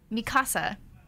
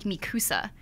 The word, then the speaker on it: Mikasa: Also, Mikasa, that is how you pronounce her name in the Japanese version. In English, I think the dub, it's like Mikusa.